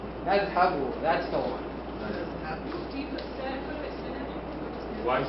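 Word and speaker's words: نذهب: Nadhabu. That's the one. Why is there a fatha? You can. Huh? You're pronouncing like there's a fatha on the ha.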